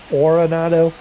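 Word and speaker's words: Arenado: Going back to first is Aronado. I've heard that name be pronounced a lot of different ways. Areronado. Oronado. Oronado like orthodontist.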